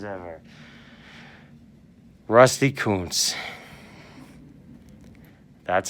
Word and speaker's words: Kuntz: one of the best baseball names ever rusty Kuntz that's how it's pronounced boys and girls rusty Kuntz that is